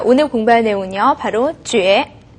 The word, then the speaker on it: 觉: 睡觉가 될 때는 觉라고 발음이 되죠.